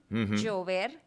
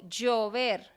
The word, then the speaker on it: llover: ejemplo, en la mayoría de países de Centroamérica, ellos pronuncian la doble L, por ejemplo, el verbo rain, llover. Ujú, Yo, colombiana, digo llover, ujú. como si fuera una Y. Yo Sí, soy y llover, lo mismo.